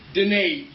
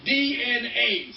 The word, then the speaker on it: Dehne: As a non sequitur, oh, by the way, my name is pronounced Dehne, DNA, Dehne.